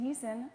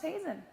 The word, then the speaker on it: Hazen: Small thing to note, they kept saying Beast and Heason. My name's pronounced Hazen.